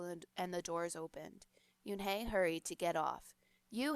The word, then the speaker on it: Yunhei: asked yunhei said yunhei un nei the girl asked scrunching up her face some kids chanted no no yunhei corrected it's spelled u-n-h-e-i it's pronounced yoon hey oh it's you hey